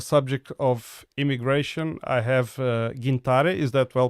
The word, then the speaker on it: Gintare: And with me today on the subject of immigration, I have Gintare. Is that well pronounced? Yes, it's Gintare.